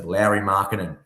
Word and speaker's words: Lauri Markkanen: So Lauri Markkanen. Got it. Yeah, that's how you pronounce it.